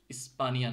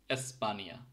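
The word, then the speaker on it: Espanja: একটা উদাহরণ দেখি যেরকম এসপানিয়া ইটা কিন্তু এর মত উচ্চারণ হচ্ছে এসপানিয়া স্পানিয়া না কিন্তু এসপানিয়া এরকম এরপরে আছে আই আই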